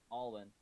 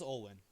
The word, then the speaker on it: Olwen: Alwyn. No, it is Olwen.